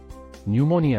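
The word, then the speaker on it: pneumonia: letter K ನೀ ನ್ಯೂಮೋನಿಯಾ ನ್ಯೂಮೋನಿಯಾ ಅಂದರೆ ಒಂದು ರೋಗದ ಹೆಸರು silent letter P ನ್ಯೂಮೋನಿಯಾ design ವಿನ್ಯಾಸ ಸೈಲೆಂಟ್ ಲೆಟರ್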